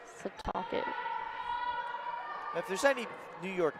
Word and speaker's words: Setauket: She's a freshman from East Septuagint, New York. Is that how you pronounce it? A lot of weird pronunciations today. East Setauket. Setauket.